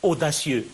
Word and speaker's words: audacieux: Audacieux, je peux avoir une seule syllabe O, da, donc la première syllabe, la deuxième syllabe, et là je peux avoir une troisième syllabe. Si j'effectue la diérèse, je peux avoir 4 syllabes.